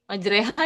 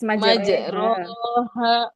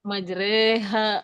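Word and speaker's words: مجراها: Waqarkabu fiha bismillahi maj majreha ya harusnya ya. Yes. Majroha majreha wa mursaha.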